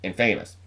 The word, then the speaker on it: infamous: and famous and Famous it's pronounced Infamous I got the sudden